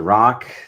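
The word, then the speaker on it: Rak: my name is Dr rock that is pronounced Rock spelled r-a-k I am a lifestyle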